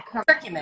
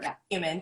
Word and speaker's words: curcumin: Yeah, curcumin. Yes. Or curcumin. People, pronounce it differently, but yeah, it's anti-inflammatory.